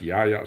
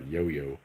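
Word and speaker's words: Yahya: w a h y is that pronounced Yaya not yoyo Yaya sinir and he's come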